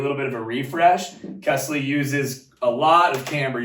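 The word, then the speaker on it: Kästle: It's pronounced Kesley, not Castle or Kesla.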